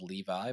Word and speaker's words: Levi: It is spelled Levi, but pronounced Levi.